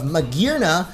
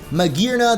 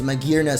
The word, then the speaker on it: Magearna: Going back to the trailer though, we also have the official reveal or English reveal of Magearna, which I was totally pronouncing wrong before, but I guess it's Magearna, the Steel and Fairy mythical Pokemon.